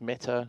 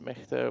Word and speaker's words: Mehta: apologies for the mispronunciation it is meta not mea with the silent h always learning here CIA